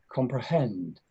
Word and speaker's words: comprehend: This word comprehend has 3 syllables, but one of them has the word, has the stress. Which syllable will you stress here? Comprehend, the last one. This is the last one here. So it's going to be like comprehend. And if you listen, I'm